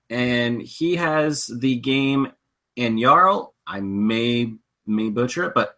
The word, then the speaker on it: Anyaral: So, Mike, tell us a little bit about, am I pronouncing it right? Anyaral. Anyaral. Anyaral. Okay, I just I did it right. You got it spot on.